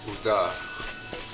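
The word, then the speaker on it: Ul'dah: Like the city Ulta, it couldn't be Ulta, it could be, they say Uda.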